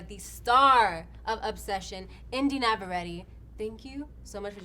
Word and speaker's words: Navarrette: star of Obsession, Indiana Massaretti. Thank you so much for joining me. Did I say it right? Yes. Massaretti. I was like, we're going to get this right. Massaretti like navigation.